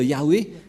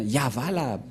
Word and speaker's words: Yahvah: ce n'est pas ça ne devrait pas du tout être Yahweh qui ont induit en erreur les catholiques romains. Car dans le Sefer Torah, c'est bien Yahva la prononciation.